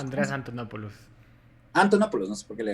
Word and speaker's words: Andreas Antonopoulos: Entonces, creo que tokens, ¿cómo se pronuncia? Andreas Antonopoulos. Andreas Antonopoulos. Antonopoulos, no sé por qué le agregó Antete.